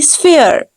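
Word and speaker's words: sphere: स्फेयर टन कहते हैं the word will be स्फेयर P will be pronounce S एफ but sometime in text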